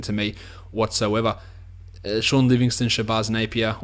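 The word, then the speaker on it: Shabazz Napier: me whatsoever sea Livingston shabbaz napia or shabaz napia sorry it's shabaz napia shabaz Muhammad because of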